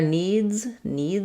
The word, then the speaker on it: needs: So their needs is going to have the z sound again because the s is following a voice sound.